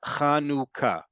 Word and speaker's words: Hanukkah: assimilate us into Oblivion it's important that we talk about pronunciation folks this holiday is kanuka I don't care how